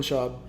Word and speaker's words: Schaub: Brendan Schaub's liking our story like 6 times.